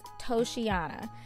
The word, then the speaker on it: Toceana: over at toyotres now i did have to go look up several videos to figure out the correct pronunciation of the name of this hair and i think the general consensus is toshiana so that's what we're